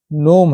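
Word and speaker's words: gnome: rule number छवा है यदि किसी शब्द में एन से पहले जी आए तो जी साइलेंट रहता है य साइन है एन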